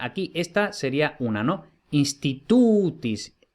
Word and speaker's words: institutis: Institutis, como la penúltima tiene el macrón, entonces va acentuada, institutis.